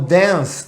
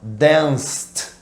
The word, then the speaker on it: dance: apareceu esse verbo gente o som olha a pronúncia densa parece que termina com s tá onde é Inclusive tem muito brasileiro por aí Dizendo dance não tem Dancing não gente pensou certo Tá bom então dance termina com som de s Então a gente vai